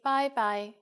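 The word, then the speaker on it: 拜拜: When it's time to leave, we say bye-bye for informal situations. And you are right, it's just like the English bye-bye with a Cantonese pronunciation.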